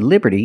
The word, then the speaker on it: Liberty: Statue of Liberty and we see that t in Liberty is between vowels so it's pronounced like a fast D Liberty Liberty not Liberty but Liberty the Statue of